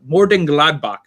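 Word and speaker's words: Mönchengladbach: hope you enjoyed that it's Borussia more boat Morden Gladbach that's how you say it in German but I'm moving on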